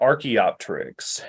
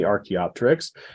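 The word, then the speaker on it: archaeopteryx: are familiar with the the prefix arche like archeology so arkey refers to studying ancient things so Archie is is ancient and the Terex with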